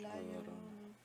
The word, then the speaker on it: La Llorona: Yeah, and there's what, La Llorona? How do you say that? La Llorona.